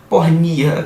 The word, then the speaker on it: porneia: e é a palavra pornia que eu botei né trans literando para porneia a pronúncia seria mais para porni e isso é motivo